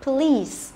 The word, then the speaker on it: police: Police, đọc đúng cho nó thì sẽ là police. Đấy, nghe thì tây một cái là nghe là hiểu ngay, chứ cứ đọc là police hoặc là police thì tây làm sao mà hiểu được, đúng không?